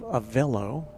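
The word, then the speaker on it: Avelo: Kader is informing me about the correct pronunciation of Avello, rhymes with jello or yellow.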